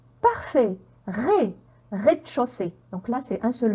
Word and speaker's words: rez-de-chaussée: la prononcer mais mais et là qu'est-ce que j'ai encore ez comment on va la prononcer parfait rez-de-chaussée donc là c'est un